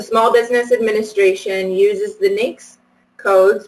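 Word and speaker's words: NAICS: programs so the Small Business Administration uses the Nix codes pronounced so it's North American industry classification system pronounced minx to determine the size standard all federal solicitations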